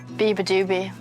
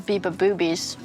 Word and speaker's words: Beabadoobee: Beabadoobee. That's how you say it. The worst pronunciation, they somehow put like poop into it and I thought it was on purpose, so I just kind of rated it from them. Or people say I'm Beababoobies, and someone made a sign, Beababoobies!